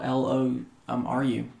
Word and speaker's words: Loru: It's spelled like four letters. Really simple. L O R U um Lom Ru